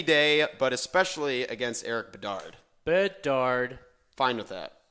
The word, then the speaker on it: Bedard: I don't have a problem putting him in any day, but especially against Eric Bedard. Bedard. Fine with that. It's actually pronounced Bedad. Bedad. No, it is not.